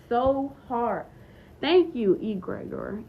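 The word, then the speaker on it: egregore: Thank you, egregor. Egregor. Okay, that's how you say it.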